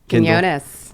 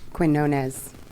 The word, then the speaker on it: Quinones: So can we get a nice pronunciation of that last name? Quinones. Quinones? Quinones. Okay. Quinones. Quinones. Yeah. Shaq didn't pronunciate it. Or you could do Quinones.